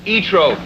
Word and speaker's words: Zoetrope: For once and for all, it's pronounced ZOETROPE.